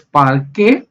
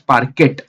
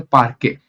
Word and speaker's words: parquet: example par K file you can pronounce it as per K or you can pronounce as parquet but T silent here most of the time we call it as a parquet Delta and orc these